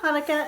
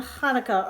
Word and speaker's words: Hanukkah: it with me veronica actually both hanukkah and hanukkah are right the holiday's name is hebrew so there are different ways to spell it and say it in english hanukkah hanukkah thanks applesauce